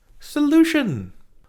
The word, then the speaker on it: solution: It has that tio ning which is a suffix, a word ender that turns verbs into nouns. And the verb hiding inside of solution is solve to fix something. And putting tio n, putting chun on the end of that verb, that